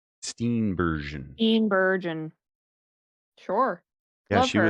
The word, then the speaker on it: Steenburgen: I also love Mary Steinbergen. Steenburgen. Steenburgen. Sure. Yeah, Love she her. was But the she can't pronounce her name apparently.